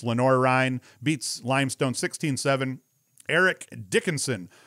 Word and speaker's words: Lenoir-Rhyne: lenore rein i think i've been saying it wrong someone told me it's not lenoir which sounds a lot cooler it's lenora rhine beats limestone 16-7 eric